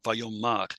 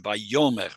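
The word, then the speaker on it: ויאמר: Yeah, Vayomar. So that's the interesting part. Normally it would be Vayomer, right? But because of the Atnach, and the Atnach is placed on the last syllable, the accent is there, and so we don't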